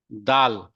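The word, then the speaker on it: دال: उसको प्रोनाउंस करते हैं दाल।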